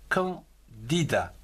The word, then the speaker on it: candidat: Un candidat, C-A-N, quand, D-I, dit, D-A-T, da, candidat.